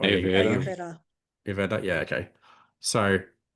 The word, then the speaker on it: Ayurveda: Am I pronouncing? Oh, yeah, Ayurveda.